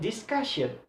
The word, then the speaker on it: discussion: When articulate discussion, the second syllable have a stress.